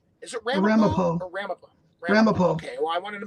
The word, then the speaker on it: Ramapo: Ramapo.